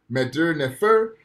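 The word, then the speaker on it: mdw nfr: which means good speech madur nefer is spelled m mdw nefer nfr right good speech now this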